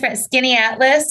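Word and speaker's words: Skaneateles: So I'm going to Skinny Atlas.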